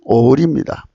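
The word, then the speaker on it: אוֹר: 그 빛은 오울입니다. H216번 음역입니다. 오울. 오울입니다.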